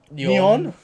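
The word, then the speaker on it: Nyon: yes and beautiful grandma your how do you pronounce this it's NY o n yon yeah neon then grandmother on the scones bar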